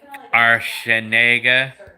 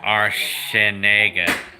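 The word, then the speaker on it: Arciniega: name r r shiniga the c is pronounced like an s it's not like it's not like a k but the c in my last name is pronounced like an s like our shin negan yeah unnamed person i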